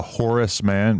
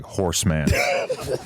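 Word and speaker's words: Horace Mann: I like how you call Horace Man, but you kind of say it like Horseman.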